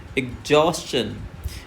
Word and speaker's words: exhaust: Long sound भी देना है और यहीं पर हमें स्ट्रेस भी देना है। तो यह हो जाएगा एग्जॉस्ट।